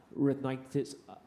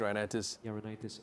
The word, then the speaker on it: rhinitis: Is it common for a child to suddenly develop allergic uh retitis at age 10? Did I did I pronounce it correct? Yes. Allergic rhinitis.